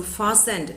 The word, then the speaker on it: fastened: Here, poodle in a jacket fastened with a pin. So fastened, the word should be pronounced as fastened. This T is silent.